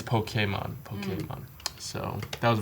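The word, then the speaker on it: Pokémon: But apparently it's Pokemon.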